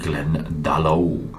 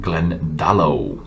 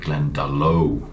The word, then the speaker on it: Glendalough: bit of gaelic now you usually pronounce the first syllable of the word in the gaelic language so it should be glendalo not glendale so but i've not been